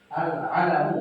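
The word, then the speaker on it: العَلَم: Bukan al-ilmu, Pak ya. Bacanya jangan salah itu. Al-alamu bukan al-ilmu.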